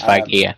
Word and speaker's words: Feige: They're not Marvel until they got Kevin Feige, which I think I'm pronouncing correctly. It is Feige, yeah.